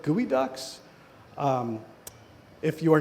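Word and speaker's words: geoduck: were harvesting something called gooey ducks. Um, if you are not sensitive, you can put into Google image search gooey duck, which is spelled geo duck, all one word, and you will find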